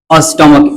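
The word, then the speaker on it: stomach: अब यहां पे स्टमक सॉरी स्टमक यानी कि यह सीएच जो है सीएच का उच्चारण क्या होना चाहिए? क मोनार्क।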